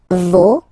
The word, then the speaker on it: vos: Okay, so remember, even if you get this final S, you don't pronounce it, as it was the case already for this word, no, you don't pronounce the final S, vos, you don't pronounce it, leur.